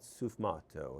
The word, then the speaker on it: sfumato: And they call that sfumato.